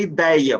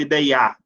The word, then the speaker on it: ideia: Você fala ideia, você não fala ideiar.